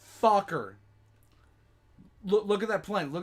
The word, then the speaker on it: Fokker: It is pronounced Fokker, not Thucker, Fokker.